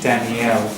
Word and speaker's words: Danielle: Daniel and Daniel, is it the difference? When it's Yeah, generally female is E-double-L-E, Danielle, and you pronounce it like French, Danielle and Daniel, so the stress will be different.